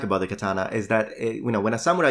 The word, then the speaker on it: katana: Now, for those of you who are interested in Japanese, these are pronounced yari, katana, and samurai, If you want to know more about this, you'll find a link in the description.